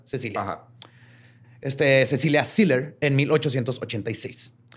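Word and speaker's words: Cäzilia: casilia con dos puntitos en la pero se pronuncia Cecilia este Cecilia Siller en 1886 ella era 10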